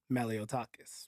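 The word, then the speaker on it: Malliotakis: And then um Nicole Mat I can't never pronounce this woman's last name. Malotakis. You know who I'm talking about. Mhm. Nicole Matakalakis.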